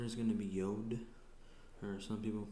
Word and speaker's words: Yod: The next letter is going to be Yod, or some people pronounce it Yud, and then it makes all the Y sounds.